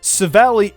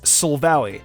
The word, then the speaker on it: Silvally: Silvally is Silvally. I missed the L in its name the first time I tried pronouncing it.